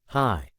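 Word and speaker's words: ひ: The wall bore a prominent red symbol, a stylized version of the Japanese hiragana character, Hi, which is pronounced, Hi.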